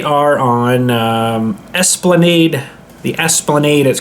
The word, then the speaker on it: Esplanade: for yourself they are on um Esplanade the Esplanade is called so that's spelled e-s-p-l-a-n-a-d-e-s plan Aid 54 the Esplanade Toronto